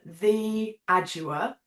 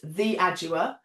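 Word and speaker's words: Theaudua: Instagram under the name the adua which is spelled uh so t h e a u d u a. So you don't pronounce my name how you spell it but it's the adua.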